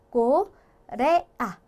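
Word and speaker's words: Corea: 뜻을 가지게 된다라는 거고, 뒤에 아오 모음이 오게 되면 쌍기역의 소리를 가지게 돼요. 그래서 얘 같은 경우에는 꼬, 레, 아 이런 식으로 끊어서 발음을 해주면 되는 거죠.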